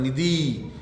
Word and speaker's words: निधि: निधि, निधि, अक्सर बोलते हैं किसी का नाम हम उच्चारण करते हैं, निधि, इधर आना, नहीं, शुद्ध होगा निधि, निधि। न में भी छोटी और द में भी छोटी।